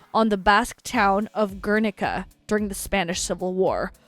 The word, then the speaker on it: Guernica: So once again, thank you Cannis for suggesting Clan Queen and specifically this song Guernica or Gernika. I think that's how you pronounce it in English.